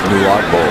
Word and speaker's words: Nwagbuo: Is that correct? Nagbo? I don't know. He's a Sparty. I should be able to pronounce it, but you have too many consonants in your name. I struggle with it. It's Nuagbo.